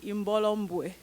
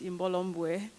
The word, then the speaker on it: Imbolo Mbue: But my name is actually Imbolo Mbue. My last name is just one syllable. It's hard to get it right without the right accent, but it's Imbolo Mbue.